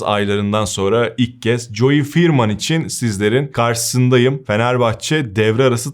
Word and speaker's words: Veerman: Joy Firman yani F ve V'yi biraz birleştirerek okuyorsun ve 2E'yi i ile yapıyorsun. Telaffuza takılanlar oluyor. Ben de ilk Ferman demiştim ama firman olarak okunuyormuş.